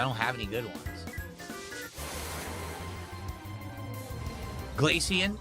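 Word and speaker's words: Glaceon: So, it's like glacier. So, glacian. Glacier. Glacian. Got it. Glacian.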